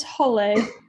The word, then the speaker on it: Halle: It's Halle. It's what? Halle. Halle. Okay, so Halle. I'm going to kind of change that here. Hall like a hall, right?